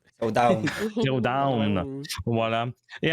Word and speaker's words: Zero Dawn: Du coup, si je prononce bien le nom du jeu, parce que c'est pas le genre de jeu que je prononce. Oh, down. Zero Down.